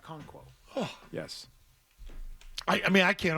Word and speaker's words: Okonkwo: All right, Okonkwo.